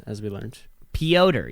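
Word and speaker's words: Petr: would you say that peter yan pyoder neon that's how it's pronounced as we learned pyotr even though there's no o correct and we're just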